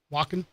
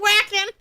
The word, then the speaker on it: Wacken: Wacken. W's a sound like a V. Okay. So they're going to come on. He thought it was whacking.